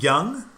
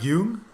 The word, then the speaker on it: Jung: never read carl again is it young it's not yoon it's not spelled like young okay well i'll say young young hume yeah yeah at